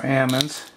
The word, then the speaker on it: almonds: another you can use four almonds if you like or Ammons that's the way you're supposed to pronounce it you can use